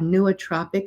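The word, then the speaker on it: nootropic: here I do have a YouTube video on neotropic herbs it's spelled n o o t r o p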